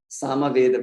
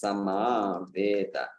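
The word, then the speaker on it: समवेत: And by the way, that's Samaveta. It's Samaveta. Yeah. So the devotees of Samaveda or Atharva Veda or Yajur Veda. Yeah. It's there, yeah, I've heard those. So Samaveta, for those who are not familiar with it, it means assembled. Samaveta. So it's not Samaveda.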